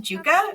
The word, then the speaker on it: Yuka: as well starting with Yuka hi guys I'm um it's actually pronounced Juka which is it's funny